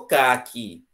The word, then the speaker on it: caqui: Ô, caqui. Se eu disser que ca, é caqui. E a fruta, caqui, tem o acento tônico onde? Na última sílaba.